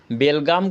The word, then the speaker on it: बेलगांव: में हुआ था कि बेलगाम कर्नाटक में है बेलगांम को बेलगांम ही उच्चारण करना बेलगाम नहीं करना है बेर लगा मतलब हो जाएगा बिना लगाम का कोई लगाने को कंट्रोल